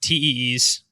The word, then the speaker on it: TEEs: Um let's start with TEES. Is that how you is that how it's said in the in the industry? I don't know. Yeah. It's not T. Okay. Tees.